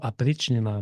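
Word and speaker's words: опричнина: Son domaine qu'il va agrandir et qu'on va qualifier de Oprichnina ou Aprichnina, parce que le O se prononce A des fois en russe, ça va être le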